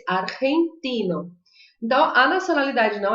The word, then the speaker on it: argentino: Porque ela é dessas pronúncias que misturam o R com o J, com o som do J ou do G aqui na garganta. Então eu vou dizer argentino, argentino, Argentina.